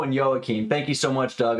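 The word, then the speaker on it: Joakim: It's pronounced Sarajevo and Joachim. Got it. Sarajevo and Joachim.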